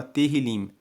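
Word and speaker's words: Tehilim: Salmos no texto original se chama terril se escreve t e h i l i m o livro de Salmos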